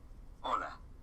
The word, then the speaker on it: hola: this chapter ready hello hola did you notice that although hola starts with the letter h it is not pronounced the letter h is